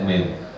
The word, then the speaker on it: meme: Saya kemarin beberapa kali lihat ada meme gitu, meme ya bacanya, tulisannya meme ya, bacanya meme.